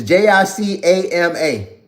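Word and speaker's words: jícama: Jacimia? How you pronounce this? It's Jicama. Jamesia?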